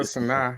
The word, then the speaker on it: Sanaa: But that's Sanaya? Not how you pronounce her name. Sanaya Lathan? It's like Sanaa Lathan. It's like Sanaa or something like that. Yeah, Sanaa.